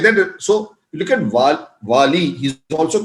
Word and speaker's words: Vali: The word Vali, also his name is not only said as Vali, but also quite often pronounced as Bali.